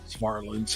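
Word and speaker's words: Varelans: it's v r e l NS they always pronounced it wrong but farlands and he was a San Jose State offensive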